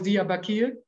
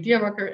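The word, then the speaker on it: Diyarbakır: Like the city is Diyarbakir, which is actually Diyarbakir, and then So Anna,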